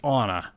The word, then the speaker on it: Ana: released with her and she pronounces it on a in the voiceover perfect it's Anna I love it on